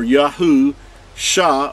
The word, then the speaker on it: Yahusha: So you have the name Yahuwah or Yahu, Shah or salvation. Put them together, you have Yahusha. Here's Yahu and then Shah. That's how it's pronounced.